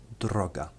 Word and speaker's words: droga: This letter R is interesting, as it's the only letter in the Polish language that rolls. What I mean by this is that it is said in such a way that it rolls off the tongue, like this, r.